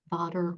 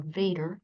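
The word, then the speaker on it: Vater: through that ampula of Vader or Vader pronounce it either way so it's constantly in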